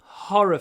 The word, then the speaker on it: horror: Мы не закрываем рот. Horror, horror, horror, horror, horror, horror, horror. Видите? Произносите вот это слово, не закрывая рот. Horror, horror, horror. Все хотят вот закрывать, чтобы произносить р, но не надо. Horror, horror. Только язык поднимается.